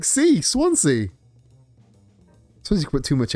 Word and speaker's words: Swansea: Oh, I don't think Swansea could be sw how how could you mispronounce Swansea? You pronounce swan like swan and sea like sea. Swansea you put too much s on it.